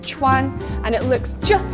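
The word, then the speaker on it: 串: It's pronounced chuan, and it looks just like a kebab.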